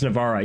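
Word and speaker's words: Navarra: cuz local army organization and fewer levies in Spanish it's Navara. Yeah. So I'm not crazy. I'm not crazy. That's why I'm pronouncing it that way. Um in French it's Navar and it's written Navar in game because the monarch is French.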